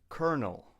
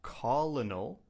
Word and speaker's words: colonel: Colonel. Colonel. Not colal, but colonel. A colonel is a rank in the military. Colonel. There's actually no R, but in English, we say colonel.